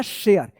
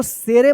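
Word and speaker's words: share: तो क्या हो गया? शेयर। इसको शेर मत पढ़िएगा। यह सारे मत पढ़िएगा। ठीक है ना? यह शेयर मत पढ़िएगा। ये लास्ट वाला इ जो है ना साइलेंट रहता है।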